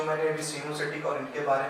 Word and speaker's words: coenocytic: सिनोसिटिक या कॉनोसिटिक हाइफी कहते हैं, they are continuous tubes filled with multinucleated cytoplasm, multinucleated cytoplasm without any foundation, कोई foundation नहीं है।